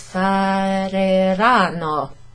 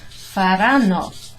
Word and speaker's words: faranno: You might think it's fareranno, ma no, it's irregular. A little, some fewer syllables, if that makes sense. Faranno.